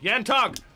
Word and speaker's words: Yanto: Yantog! There we go. It's Yanto. Yanto.